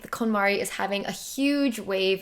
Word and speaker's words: KonMari: so long, and her whole method is called KonMari, not KonMari.